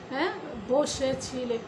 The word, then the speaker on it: বসেছি: আর যদি লেখে আমরা বসেছি, তবুও আমরা সে পরে রস্বইকার ধরে নিয়ে বসেছি উচ্চারণ করব, অর্থাৎ বয়ের সঙ্গে ও আমরা যুক্ত করব।